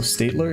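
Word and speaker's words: Staedtler: favor so okay also Statler is it Statler ster St stetler stetler interesting it's not stetler EST Statler it's stetler oh my gosh the views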